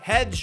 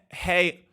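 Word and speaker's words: hej: The front entrance says hedge. I actually just looked it up and it actually is just pronounced hey.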